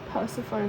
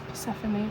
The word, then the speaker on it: Persephone: Yeah, I guess it's not as debated as how to pronounce Persephone. People in their Persephone, it's really not Persephone, it's Persephone. But yeah, I suppose I'm having a great holiday.